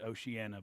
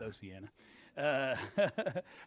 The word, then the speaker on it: Oceana: grew up in a small coal camp in Oceana, West Virginia. Some people pronounce it Oceana, but they're wrong. It's Oceana.